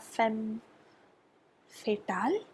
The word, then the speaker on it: femme fatale: You have you have femme fatale. That's the right pronunciation.